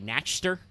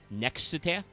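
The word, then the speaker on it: Nachster: And I think it's got an umlaut over the A, so I think you are supposed to put a little in there. Naxter.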